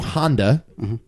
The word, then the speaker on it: Honda: finally Godzilla directed by a Shiro Honda like the car yes accurate starring a